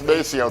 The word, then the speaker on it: Maceo: Maceo, and again, we all keep pronouncing his name wrong. Maceo. It's Maceo. Think James Brown.